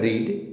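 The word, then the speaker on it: read: अगला वर्ड है रीड, यानी कि पढ़ना। तो इसका सेकेंड फॉर्म और थर्ड फॉर्म का स्पेलिंग सेम होता है, लेकिन इसका प्रोनाउंसिएशन होता है रेड।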